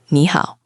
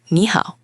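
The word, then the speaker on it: 你好: When you put two third tones together, the first one magically changes into a second tone, which is a rising tone, like you're asking a question. What? Ah, so instead of saying knee down up how down up which is exhausting for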